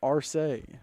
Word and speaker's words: Arce: Did get clarification. It is Arce. So Preston setting the tone with the incorrect pronunciation, but I correct. No, I'm just kidding. Hey, now, don't let him say what he told me during the break. He was about to ask the wrong team how to pronounce it.